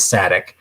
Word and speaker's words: Sadek: because it's by Andrea by Sadek or Sadiq. I always have to go to George, the Antique Nomad, to know how to pronounce it. So I think he says Sadek.